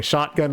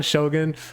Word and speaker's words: Shogun: I like tried to make, I was like, how did I mispronounce his name last time? Was it Shogun or was it Shotgun? And I was like, okay, Shotgun was the wrong one. So what's going on, Shogun?